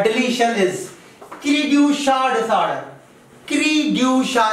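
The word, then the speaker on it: cri du chat: क्रीड्यूशा इसको प्रोनाउंस करते हैं, क्रीड्यूशा डिसऑर्डर.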